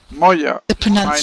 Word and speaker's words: Moya: You pronounce Moya? Is it Moya? Moya.